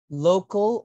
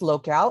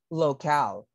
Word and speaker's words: locale: research A or B local or locale b b correct that's Locale and the pronunciation is Locale not local but Locale that's correct thank you